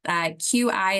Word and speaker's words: qi: And so in traditional Chinese medicine, QI is pronounced as qi, and they really want to have a balance of the qi.